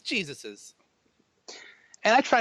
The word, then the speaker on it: Jesus's: If Jesus owns something, it's not Jesus's. It's Jesus's.